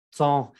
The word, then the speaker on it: temps: La P y la S de temps no se pronuncia así. Me enojo porque siempre hacen este error. No se vayan a tromar, pero si no se pronuncia eso, se pronuncia temps.